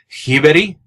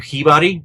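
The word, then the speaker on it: Sjöberg: His last name is pronounced Hiberi or Hibari.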